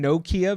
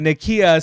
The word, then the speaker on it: Nakia: I keep thinking Nokia because of the phone. But Nakia, so she's like the